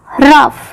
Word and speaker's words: rough: GH जब भी मिलते हैं ये F की आवाज निकालेंगे, रफ, ROUGH रफ।